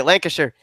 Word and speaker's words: Lancashire: Whenever we'd go down to Pennsylvania, though, we were always down in the Lancashire. I'll say it the right way, Lancashire area.